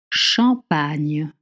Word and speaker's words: Champagne: Champagne. Champagne. I know it's very difficult to make the sound. Champagne. But let's try. Champagne. See, when you have a GN, you pronounce the sound N.